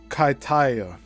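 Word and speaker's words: Kaitaia: I was scheduled to carry out a positioning flight from Wua Auckland's main airport at the time to Kaitaya. That's spelled K A I T A I A.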